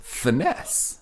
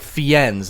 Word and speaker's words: Fiennes: you know I think I think it's supposed to be fines but it is spelled like